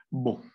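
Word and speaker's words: beau: Entonces va a ser bo, va a ser bo. Así normalmente esa O es la O ni abierta ni cerrada, es muy parecida a una O española.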